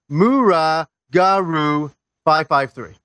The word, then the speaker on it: muragaru553: You pronounce it Mura Garu 553.